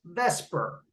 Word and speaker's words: VSEPR: to do this what we're talking about is pronounced Vesper it's spelled f-s-e-p-r I'm going to tell you